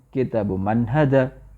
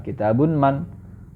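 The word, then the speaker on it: كتابُ مَن: seperti baituiru seperti itu maka kitabu Man bukan kitabun Man di sini kitabu Man ya ingat kitabu Man tidak di kitabun salah maka dihilangkan thahnya thah tanwinnya menjadi thah saja kitabu Man kemudian yang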